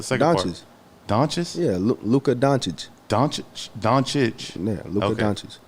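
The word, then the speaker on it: Dončić: Yeah, Luka Doncic.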